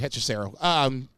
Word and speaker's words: Hechicero: No, you said it right, Hechicero.